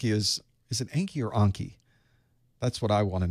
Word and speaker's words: Anki: true uh it's Anki so it is Anki thank you soft a it's not Anki Anki